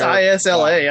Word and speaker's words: Isla: I think it's Isla. I go with Isla. There's somebody I follow on YouTube who spelled the exact same way, and they go by Isla. Yes, the S is silent.